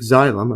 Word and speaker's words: xylem: The xylem, I think that's pronounced. Xylem. Yeah, the xylem for conducting water and minerals throughout the plant.